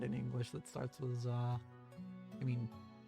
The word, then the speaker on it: ざ: I'll pronounce it as za, like in the middle of the word wizard.